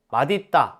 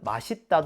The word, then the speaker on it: 맛있다: 시옷이 쌍 시옷으로 바뀌네요 마디다 이건 어떻게 발음 되죠 마 따로 발음 되죠 왜냐면 있다라는 형용사가 실질 형태 소니 대표음 바뀐 다음 연음 되는 거예요 그런데 표준 발음법에 맛있다 허용한다고 나와요이 경우 사람들이 많이 그렇게 발음하니 허용해 준 거예요 아시죠